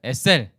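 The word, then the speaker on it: עזר: 뜻이에요 법는 자는 뜻이에요 히브리어 발음 여기서 중요하니까 여러분 따라 세우겠습니다 에셀 약간 유성은 위기 늘 sl 이렇게 한번 더 좋은데 그냥 우리나라 이성 없잖아요 그러니까 그냥 sl 이렇게 하겠습니다 에셀 sl 또는 sl 이건데 여러분 s 읽기는 익혀보세요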